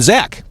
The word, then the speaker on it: Xack: if you're watching, and Xack is in the back. Xack, X-A-C-K. Yep. The X is pronounced like Z, like Professor Charles Xavier of the X-Men. Yes, I actually say like xylophone is my go-to.